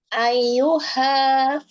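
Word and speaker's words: أيها: Ayuha. Ayuha. Coba Ibu. Ayuha. Coba. Ayyuha Tahan di Ayu. ya-nya. Tahan di huruf Y-nya.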